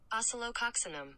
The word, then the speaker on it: Oscillococcinum: Here's the pronunciation. Oscillococcinum.